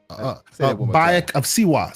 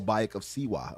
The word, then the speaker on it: Bayek of Siwa: How do you say his name again? When Bayek Kasia? Bayek of Siwa. Oh, Bayek of Siwa.